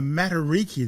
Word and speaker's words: Matariki: Also in July there's a a materiki. Did I pronounce that right?